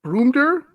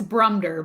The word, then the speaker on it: Brumder: with Megan and the broomter mansion in my pronouncing all right I think it's brummedder but I got a mushroom